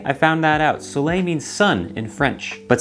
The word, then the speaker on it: Soleil: Did you know it's pronounced Sulay? I found that out. Sulay means sun in French.